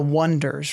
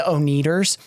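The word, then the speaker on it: Oneders: name their band the Wonders right but they spell it like the number one so everybody just mispronounces it the oners instead of the wonders in the beginning so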